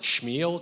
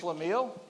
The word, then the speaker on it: Schlemiel: kind of expand on the, I think you pronounce it Shmuel tradition of Jewish. Schlemiel?